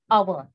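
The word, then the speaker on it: hour: Now see the spelling of that our is H, starts with H, means it's a consonant, but we are pronouncing it as a vowel, our.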